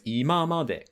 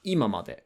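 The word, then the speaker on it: 今まで: So imamade, until now, that as a set phrase has a different pitch accent pattern where the ima part is pronounced heiban, and then it drops after the ma. So it's imamade. It's not imamade.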